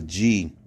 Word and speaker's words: gnosis: 1108 in your Strong's knowledge is gnosis, gnosis, if you want, because it's a G-N-O-S-I-S. But it's pronounced gnosis.